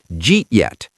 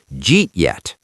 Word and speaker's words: Jeet yet: Then we connect eat and yet. The final result is two syllables. Jeet yet. J E T space Y E T. Jeet yet.